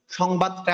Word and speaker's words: সংবাদ: তাহলে যেহেতু এখানে ব হচ্ছে যে বর্গীয় বর্ণ ব আছে, তো বয়ের যে অনুনাসিক বর্ণ হচ্ছে ম, তাহলে ওই জন্য উনেশ্বরের জায়গায় ওটা হলে ম হয়ে গেল।